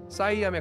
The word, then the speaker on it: Siam: 현 태국 영토의 원래 국호는 시암이었습니다. 보다 정확한 발음은 사이암에 가깝습니다만 샴쌍둥이 아시죠?